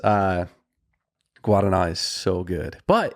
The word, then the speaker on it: Guaraná: And I'm celebrating today with a can of Guaraná. Guaraná. I would not. Guaraná is the best. Have pronounced it that way at all.